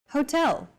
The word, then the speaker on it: hotel: subway foreign next hotel hotel see that in Portuguese H is the first letter is always silent except for specific foreign loan words for a specific Hotel